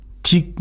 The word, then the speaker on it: dic: 예, 그래서 딕 이렇게 발음하는데요.